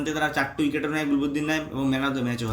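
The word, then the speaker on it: Gulbadin Naib: ভাগ্যিস গুলাবুদ্দিন নাইব, আমার ওকে হেভি লাগে, চেষ্টা হয় মারাত্মক।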